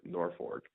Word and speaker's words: Norfolk: Norfolk Nebraska the world Norfork have to be careful to say even though it's spelled Norfolk but it's North Fork and where Johnny Carson